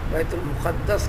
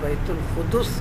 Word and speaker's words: بیت المقدس: کہو، بیت القدس کہو، یہ تینوں طریقے سے عربی کے اندر استعمال ہے، بیت القدس، بیت المقدس، بیت المقدس۔ اس کا تین طریقے سے تلفظ ہے، تینوں اعتبار سے معنی ایک ہی ہیں۔ اللہ تعالیٰ نے اس